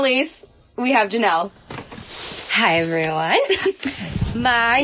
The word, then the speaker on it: Jannel: So, original, and it's ORIG, and then Jannel is spelled JANNEL, like channel and flannel, but Jannel.